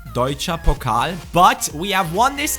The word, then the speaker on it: Deutsche Pokal: That's the right pronunciation, Deutsche Pokal.